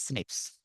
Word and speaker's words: SNPs: important data and expansion snps single nucleotide polymorphism pronounced as Snips occurs in humans and